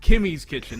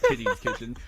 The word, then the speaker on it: Kimmy's Kitchen: there's so many K's Kimmy's Kitchen. Not Kitty's Kitchen.